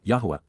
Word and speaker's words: Yahweh: blessings are reciprocated by the association with death Yahweh Yahweh the proper pronunciation of the name of eloah God as